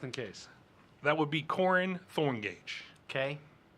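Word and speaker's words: Korin: That would be Corin Thorngage. Okay. C. Oh. Corny? Corin. Corin Thorngage. It's K-O-R-I-N. Corin Totally different.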